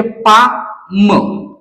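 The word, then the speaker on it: palm: याच वाचन करायचा आहे पुढचा जो एक्झाम्पल आहे तो म्हणजे पा म याच वाचन पा म अशा प्रकारे करायचा आहे आणि यातला एन लेटर आहे तो आपलला सायलेंट ठेवायचा आहे लक्षात घ्या तर अशा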